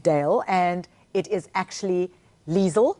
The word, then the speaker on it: Liezel: and it is actually Liesel rhymes with diesel oh is it Liesel yes but my parents